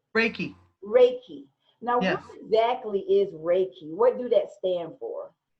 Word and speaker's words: Reiki: about what was it called Ricky how you pronounce it Frankie Reiki no exactly is Reiki what do that stand for what does it